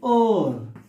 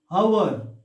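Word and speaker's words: hour: take another example and or see we are not pronouncing like hover it's here h is a silent letter so immediately once again the vowel sound is there because of that we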